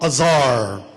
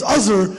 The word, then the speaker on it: Azhar: So I was like, hey, my name is Azhar. It's like buzzer without the B.